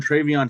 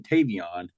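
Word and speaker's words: TreVeyon: The only thing that was a bad look was Trump calling Trayvon Henderson Tavon.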